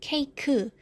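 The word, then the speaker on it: 케이크: against hindisha mashadung soka in english is c-a-k-e and it falls in one syllable cake but in korean when you spell it it will become three syllables so we have ke e ku ke ku and then we will read that nam mabilis keiku so major different channel and then napanzinibanana stress jung last part or young last syllable keku you will find it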